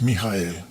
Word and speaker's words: Mijael: Si vamos al hebreo y luego pronunciamos en nuestro idioma es Mijael, que cuando los creyentes oyen Mijael, uy, cuánto hebreo sabe.